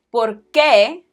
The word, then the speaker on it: por qué: ¿Por qué? As opposed to porque. Why? Because? ¿Por qué? Porque. This pair is very important in the Spanish language, so make sure that you get the pronunciation right.